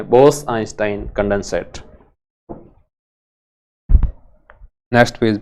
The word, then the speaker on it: आइंस्टाइन: Einstein कह दो या आइंस्टाइन कह दो, इंग्लिश में ऐसे इसका उच्चारण आइंस्टाइन होता है।